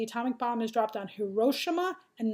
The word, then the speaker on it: Hiroshima: to know the atomic bomb has dropped on Hiroshima and Nagasaki that's how you pronounce those two names you must know them